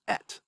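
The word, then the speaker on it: אֶת: Down here it's pronounced et.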